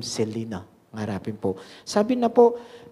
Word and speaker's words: Xyllena: Pronunciation na po, Selena.